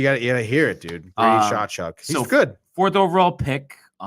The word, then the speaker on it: Tkachuk: Is it Takuk? Oh, Chachuk. Chachuk. I mean, where do you get the CH out of that? How would anybody know that? You gotta hear it, dude. Brady Chachuk.